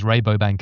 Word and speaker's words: Rabobank: Well, for us, it's Rabobank. If you're Dutch, it's Rabobank, and I always get confused between the two.